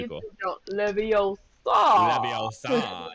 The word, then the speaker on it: Leviosa: Leviosa, not Leviosa. Stop, Ron, stop. But no, it's pretty. LeBron James goes for like a massive dunk and he goes Leviosa.